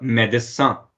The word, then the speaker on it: médecin: Okay, so whenever we have in as a combination, in always gets pronounced as a. Okay, le médecin.